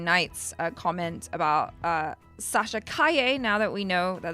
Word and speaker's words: Sasha Calle: address dark Jedi Knight's uh comments about uh Sasha Kaye now that we know that that's how you